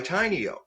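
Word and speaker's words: Tainio: here today because they they sell products by tiny oh and tiny Oh is spelled it sounds like t iny - oh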